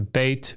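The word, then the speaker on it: בית: returned and Jacob returned el-beit oh so his oh here is his and then notice bite goes to bait because the accent has shifted here too ultimate syllable and that as aya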